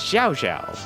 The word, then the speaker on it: Cao Cao: It was only until actually just recently I learned, it's like, okay, how do you actually pronounce it? It's Zhao Zhao.